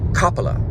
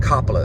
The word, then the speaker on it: Coppola: We watched New York Stories together, the one with and now it's pronounced Coppola. Francis Ford Coppola is how they say it.